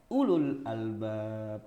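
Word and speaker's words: أولو الألباب: Semua hurufnya dibaca, padahal enggak. Itu ada huruf wawu ada di situ, enggak usah dibaca. Ulul albab.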